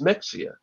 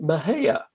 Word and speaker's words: Mexia: you look at it you think okay that's Mexia but the locals pronounce it Maha oh and there there's a story about two